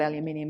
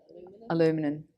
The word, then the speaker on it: aluminum: But anyway, it's not aluminium, is it? Aluminum.